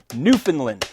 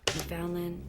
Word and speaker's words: Newfoundland: reminding you that's pronounced Newfoundland, not Newfoundland.